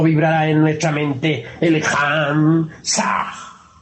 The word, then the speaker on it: Ham: Ham escribe con las letras H-A-M. Saj se escribe con las letras S-A-H. La H suena siempre como J.